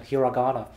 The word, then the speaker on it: hiragana: Yeah, that's the American pronunciation, hiragana.